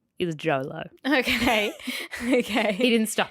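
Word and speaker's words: Jho Low: and this name is Jolo reading it and going that's just JLo with a typ yeah yeah it's spelled j h o l w I need you to know that Jolo is not JLo but a Malaysian financier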